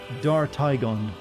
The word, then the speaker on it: Dartigan: You want to hear this, but you pronounce it Dartigan. Dartigan.